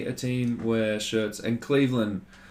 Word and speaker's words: Cleveland: And when you pronounce Cleveland, you don't pronounce it land.